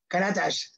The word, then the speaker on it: Karatas: o'clock Edition and my guest today is katash I don't know why I want to say s but K yeah but you pronounced my last name exent that was perfect